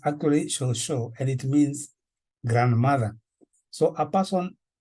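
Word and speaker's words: cucu: Shosho, we write it as C-U-C-U. But when you read it there, it sounds like cuckoo or something like that. But it's actually Shosho, and it means grandmother.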